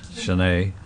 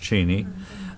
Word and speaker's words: Cheyney: my name is Shanae c-h-e-y-n-e-y it's also been pronounced Cheney but uh with a extra Y in it I was corrected many